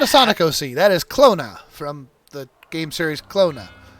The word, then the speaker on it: Klonoa: It is pronounced Clona.